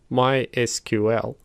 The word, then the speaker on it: MySQL: For example, MySQL is pronounced as MySQL, whereas Microsoft SQL Server is pronounced as SQL Server.